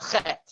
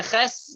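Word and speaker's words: חית: This one is the Chet. Apologize if I called it a Ches. That was the way I was brought up.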